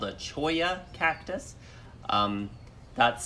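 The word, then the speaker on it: cholla: climbing a particular kind of cactus called a Choya cactus that's spelled like it would be pronounced cholo but soya cactuses are super super prickly you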